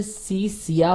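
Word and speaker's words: Scythia: आप देखेंगे इसे सी सिया पढ़ा जाता है, ठीक है ना, सी सिया, H इसमें साइलेंट होता है, ठीक है, तो आप H को नहीं पढ़ेंगे, इसे सी सिया पढ़ते हैं, इसके लिए इसका सही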